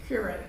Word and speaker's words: Keurig: Keurig, right.